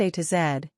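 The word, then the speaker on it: A–Z: the small or mini London a z pronounced a to zed which is a pocket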